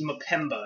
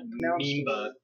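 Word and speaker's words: Mpemba: I bet you mispronounced that. Memba. No. That's M-P-E-M-B-A, and it's at least Mapemba. It's French, or not French, African. It's not Mimba, or Meba, or whatever. M-P-E-M-B-A. It's the Mapemba effect.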